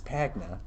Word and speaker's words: Pagna: not saying it wait you said your name wrong it's pagna oh my God oh